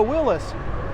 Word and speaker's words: Willys: always understood it'd be pronounced such as Willis as in what you talking about Willis for all my Different